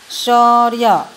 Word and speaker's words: शौर्य: शौर्य। अब यहाँ पे र और य को देखना है, तो जब उच्चारण करते हैं तो य से पहले ही र आता है।